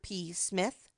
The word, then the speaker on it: Psmith: can say that Mr P Smith the p is silent as in shrimp he reminded her oh